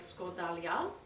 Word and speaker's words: skordalia: i'm going to show you how to make scordalian did i pronounce that correctly yes perfect with my friend yani kiritsis who's made a lot more score dalia than i have in his lifetime absolutely i